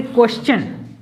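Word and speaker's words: question: अब यहाँ पर देखते हैं कि TION रहे, उससे पहले S रहे, तो उसको क्या बोला जाता है, चन। किस प्रकार से प्रोनाउंसिएशन किया जाएगा, चन। तो यहाँ पर जो दिया गया है, जैसे क्वेश्चन, क्या है, क्वेश्चन। TION से पहले S रहे, तो वहां पर क्या बोला जाएगा, क्वेश्चन।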